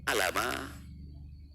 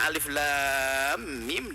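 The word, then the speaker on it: الم: Allah subhanahu wa taala Coba kalau gak pakai Guru Gimana bacanya Alama Ali Bagaimana gak ada dan gak ada beda hurufnya Alif Lam Mim dengan alam enggak ada beda alam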